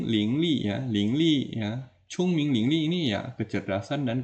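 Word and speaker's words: 聪明: Chung Ming lingli ya bacanya Chung Ming m ya jangan Cong Ming ya bukan Cong ya Chung Chung Ming Ling Li kemudian k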